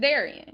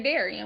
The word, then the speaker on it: Darion: it well she's stupid it's Darion it's easy as hell to pronounce just say Daran what the [ __